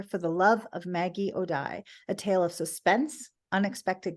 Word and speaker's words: O'Die: book is pronounced For the Love of Maggie OD she pronounces it like the river d uh but